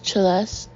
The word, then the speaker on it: Celeste: Her name was Celeste, pronounced with a sharp ch, as in cello.